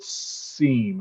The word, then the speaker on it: CIEM: brad let's talk about seam i think is how we're going to pronounce it cloud infrastructure entitlement management